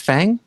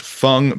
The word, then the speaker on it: Heifeng: Wait, isn't that pronounced Fang? I think well, you could pronounce it Feng. When I saw it most recently, it was pronounced Feng by the author, and she said like feng shui.